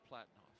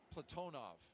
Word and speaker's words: Platonov: Our crew today, Commander Zena Cardman, pilot Michael Frink, Jackson astronaut Kimmy Aui, and Ross Cosmos cosminaut Alleg Platinoff Platonov. I corrected my pronunciation yesterday and I slipped back on schedule.